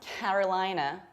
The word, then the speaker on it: Carolina: And we have another couple of twin states, which is North Carolina, North Carolina. Pay attention to how much I spread my lips when I pronounce ca. Carolina, Carolina, and reduced ending. Carolina, North Carolina.